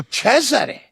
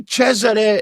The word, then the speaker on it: Cesare: They pronounce the C harder. Cesare. Cesare.